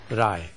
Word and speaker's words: Rai: my name is this I am a Bengali and I would like to be pronounced as dr. Rai our main text is